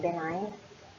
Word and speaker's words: benign: Yung isa ay tawag natin ay benign, and then that is silent G, benign, and then yung second one is malignant.